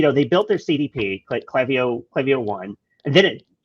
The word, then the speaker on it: Klaviyo: do you say it by the way it's clavio I so like I don't they know um